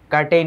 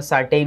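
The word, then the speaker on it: curtain: কার্টেন মানে পর্দা। এটাকে আমরা সার্টেন উচ্চারণ করে। এটা কোনভাবে সার্টেন না। It will be কার্টেন। Pronunciation Willoughby কার্টেন।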